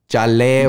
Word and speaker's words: Leyva: Oh my God, I didn't even say it right. Because when you get introduced, yeah, it's Jaleva. Jaleva.